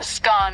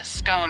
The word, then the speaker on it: scone: the pronunciation of scone both scone rhyming with gone and scone rhyming with bone are accepted pronunciations though Regional variations exist